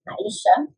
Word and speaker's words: Aixa: Es Aisha. Se escribe Aixa, pero ella en su descripción tiene cómo se pronuncia su nombre.